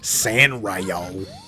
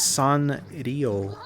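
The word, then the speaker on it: Sanrio: And he's like, "Well, at least I'm not like those Hello Kitty guys, San Rio." I'm like, "Oh, is that how you say it?" I always thought it was Son Rio.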